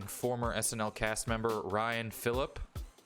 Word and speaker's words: Phillippe: Chat, MacGruber, starring former SNL cast member Ryan Phillippe. Is that how you say his name? Felipe.